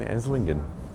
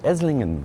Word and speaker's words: Esslingen: We'll see you in Esingan. All right, we've made it to Esingan. Yeah, we realized the G is silent by the train now.